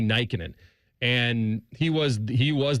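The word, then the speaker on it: Nykänen: I I kind of went through phases where I thought he pronounced his name Nickin, but I think it was Matty Nyikin.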